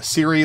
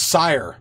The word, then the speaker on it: Sire: Am I saying your name wrong, Siri? A wild dev chatter appears. it's Sire. So I've been butchering it forever. Sire, as in Sir, right?